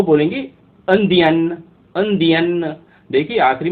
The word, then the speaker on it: indien: तो ऐसे ही अगर कोई पुरुष है, अगर वो बोलता है मैं इंडियन हूँ, तो वो फ्रेंच में बोलेगा अंदियाँ। अंदियाँ, EINDIEN, अंदियाँ। तो ऐसे ही अगर कोई